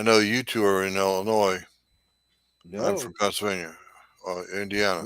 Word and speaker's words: Illinois: I know you two are in Illinois. I'm from No. Pennsylvania, Indiana. Nope. Excuse me. Yep. Indiana. Nick is in Illinois. Yep. Nick, Our do you pronounce it Illinois or Illinois? Illinois, the S is silent.